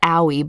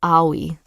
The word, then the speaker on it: Aoi: see there we go how to pronounce aoi in japan is a yeah exactly oh wait a is in car o is in sorry e is in c aoi okay so maybe not owie but aoi okay yeah okay okay